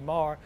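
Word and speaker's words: Meagher: Many people say meager, but the Irish pronunciation is a soft G, Marr.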